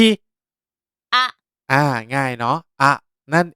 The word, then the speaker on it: あ: แรก นี้ นะ ครับ จะ อ่าน ออก เสียง ว่า อะ อะ นะ ครับ วิธี การ